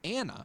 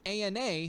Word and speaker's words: ANA: stands for anti-nuclear antibodies it's an acronym that Ethan pronounces Anna instead of Ana like most every Medical Professional does Jake he's not a